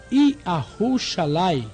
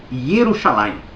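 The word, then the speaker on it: ירושלים: Observe o nome da cidade, Yahushalaim. Eu observei o nome da cidade, sim, e percebi também que só existe no mapa da sua cabeça, porque se você se refere a Jerusalém, o nome correto é Yerushalayim.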